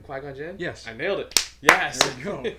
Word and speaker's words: Qui-Gon Jinn: qui-gon jinn quite quite you said it right quack on jen yes i nailed it yes yes oh it